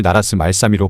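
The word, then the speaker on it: 나랏말싸미: 실제로 당시에는 이것을 나라스 말삼이로 발음했다고 합니다.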